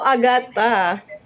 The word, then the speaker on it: Agata: So it's how to pronounce it agat. Is that correct? Agata also Agatha.